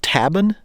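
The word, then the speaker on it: tabun: was something called uh I think it's pronounced tabin t-a-b-u-n it's a nerve agent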